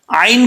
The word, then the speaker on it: ع: عین کو پڑھتے وقت یہ مت دیکھیے گا کہ یہاں پہ غفلت کے ساتھ پڑھ جائیں. اگر آپ نے عین کو حمزہ پڑھ دیا تو سمجھیں کہ اس کا تلفظ صحیح نہیں ادا ہوا اور اس اپنے مخرج سے عین جو ہے صحیح نہیں نکل رہا.